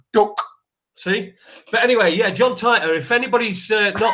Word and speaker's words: John Titor: I never heard of John title if you pronouncing it right now John Titor John Titor jab jab didn't know it was the first